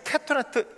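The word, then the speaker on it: כתנת: 거기에는 이 캐토네트, 이 단어가 뭐냐면요, 읽을 때 캐토네트라고 읽어요.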